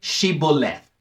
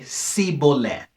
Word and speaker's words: Shibboleth: would say to him then say Shibboleth but he would say see Boland not being able to pronounce it correctly thereupon they would seize